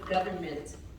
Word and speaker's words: government: Now the next thing with pronunciation was government. You have to stress where on govern, have that sound because you kind of chop it a little bit.